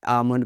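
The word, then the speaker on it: almond: लेकिन आलमंड हम आलमंड बोल देते हैं, आमंड को।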